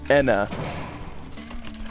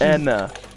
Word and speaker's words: Enna: It's just pronounced with an E instead of an A.